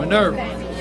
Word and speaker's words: Minerva: How did you pronounce that young man's name again? Minerva.